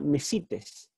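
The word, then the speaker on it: μεσίτης: la palabra Messi pez en realidad mecites tiene el acento en la iota me cites aquí yo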